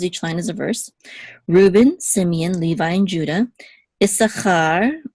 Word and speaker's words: Reuben: it's instead of Reuben in English um in English I guess usually default is the accent mark is on on the first syllable in Hebrew the default is the accent mark is on the last syllable however there's exceptions um